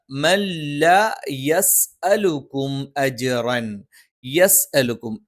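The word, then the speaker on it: يَسْأَلُكُمْ: അതിനു പകരം ചെറുതായിട്ട് നൂനുണ്ടെന്ന് തോന്നിക്കുന്ന രീതിയിൽ മല്ല മല്ല യസ്അലുക്കും അജ്റൻ, യസ്അലുക്കും. ഇവിടെയും യെ എന്ന് ഉച്ചരിച്ചു പോകാതിരിക്കാൻ പ്രത്യേകം ശ്രദ്ധിക്കണം. യസ്അലുക്കും അജ്റൻ, യസ്അലുക്കും അജ്റൻ വഹും.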